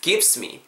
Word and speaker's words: gives: gives me라고 하시기보다는 this gives me G-I-V-E-S죠? V 사운드는 무조건 입술 닿으면 안 됩니다. 윗입 아랫입술에 대시고 윗입 아랫입술에 긁으면서 gives this gives me this gives me 이렇게 발음해 주셔야 됩니다.